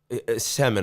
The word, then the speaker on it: Semin: Alexander Seaman or no? Semin, I believe. Oh, okay. That's probably better.